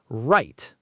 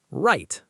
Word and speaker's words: right: Right. Say it. Right. The W is silent.